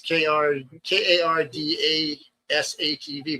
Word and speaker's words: Kardashev: It's oh hell, can't even pronounce it. Damn thing. It's KARDASHEV, but it's the power scale for civilizations from a type 1 to a type 5 power scale.